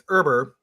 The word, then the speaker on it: Irber: sure so um I'll I'll pronounce my last name it's berber and see that's what I said e it's like it's IB R but it's it sounds like it spelled with with an e um in the beginning